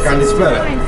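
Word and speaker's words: καλησπέρα: Kalispera.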